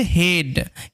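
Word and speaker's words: head: কিন্তু ইএ এর পরে ডি, টিএইচ অথবা এল টিএইচ যদি থাকে তাহলে ইএ এ সাউন্ড হয়। ওই কারণে এটার উচ্চারণটা হচ্ছে হেড।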